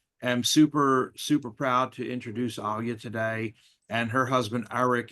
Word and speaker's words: Alya: And she even pronounces it the same. She pronounces it as Alya.